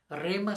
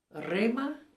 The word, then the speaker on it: Rhema: Rema se escribe R-E, viene, entre la R y la E se pone el H, entonces Rema. No olviden de poner la H, es importante, porque solo